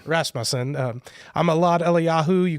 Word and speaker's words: Rasmussen: Rasmusen. Rasmussen.